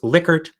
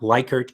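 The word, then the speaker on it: Likert: The In any case, it's Lickard, not Liykert, even though it looks like it should be called Liykert.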